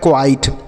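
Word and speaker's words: quite: तो लिखा है क्वाइट।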